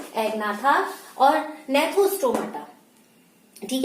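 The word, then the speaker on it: Gnathostomata: गया है, एग्नाथा और नेथोस्टोमाटा। ठीक है, कितने में डिवाइड किया गया है, वर्टिब्रेटा को 2 पार्ट में डिवाइड किया गया है। इसमें क्या होगा आपका, एग्नाथा और नेथोस्टोमेटा, जी साइलेंट हो जाएगा। ठीक है, अब रही बात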